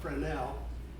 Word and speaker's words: Fresnel: F R E S Nel is spelled Frenel after August Frenel who invented them in in France.